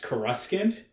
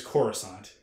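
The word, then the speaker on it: Coruscant: for like almost decades we all thought it was pronounced kuskin and it turns out that it's corusant and we didn't know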